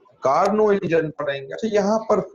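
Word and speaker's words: Carnot: इसे कंट्रोल पड़ेगी के कार्नो इंजन पर एंड यहां पर लोग इसको नोट इंजन पड़ते हैं यह का नोट निकाल लो एबी साइलेंट है और यह नाम है एक फ्रेंच मिलिट्री इंजीनियर का तनाव मैचों में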